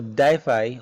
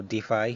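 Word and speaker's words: DeFi: in decentralized finance or diffi or defy however you want to pronounce it on hackers uh use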